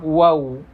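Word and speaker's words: واو: Ketika kita mengucapkan huruf waw, maka bibirnya harus dimonyongkan, harus dimajukan.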